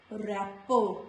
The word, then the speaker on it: wrapper: W is the first letter of the words, W becomes silent. Like in all these words, it is wrist, not wrist, wrist, wrapper, not wrapper, wrap, wrinkle, wrestle and all these words, letter W is silent.